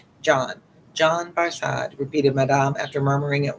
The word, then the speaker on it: Barsad: lose track of so just remember it's barad it looks like in English like a you're in the bar sad barad said defar making it French by pronunciation barad but he had been